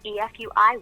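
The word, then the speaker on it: FUI: a new tool called f UI wizard pronounced EFI wizard which does exactly that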